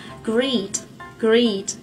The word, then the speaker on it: greet: Thế còn từ chào hỏi thì nó sẽ là greet. Các bạn nhớ này, để phát âm chuẩn được từ great thì thứ nhất